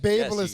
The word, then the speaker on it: BaByliss: Babyliss.